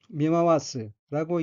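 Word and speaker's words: 見回す: 다음 어휘는 한자가 볼견자가 들어있고 일본어로는 미마와스라고 읽으며 미마와스는 둘러보다는 뜻의 타동사입니다.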